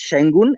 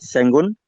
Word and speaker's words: Sengun: guys do as well it's pronounced sheng gun and not senguon so just so you